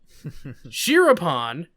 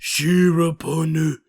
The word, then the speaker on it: Shiropon: me cringe a bit shiropon is pronounced shirapunu hyphens used to give